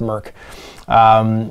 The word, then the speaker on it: Mörk: Is a open license Merkborg, I think it's pronounced Merk, tabletop miniature game for one or more player.